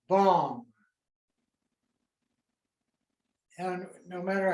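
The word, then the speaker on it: bam: tibetans pronounce this symbol bomb it's a sanskrit letter b-a-m but in our language it's bomb and no matter how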